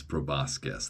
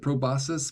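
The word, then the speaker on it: proboscis: He also did not really know how to pronounce proboscus. That's how I've always pronounced it, by the way. Proboscus. I guess some people might pronounce it probosus, but that just sounds wrong.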